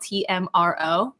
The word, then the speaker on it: TMRO: It's called Tomorrow, but it's spelled TMRO. Get it? Like tomorrow. Anyway, No so O's.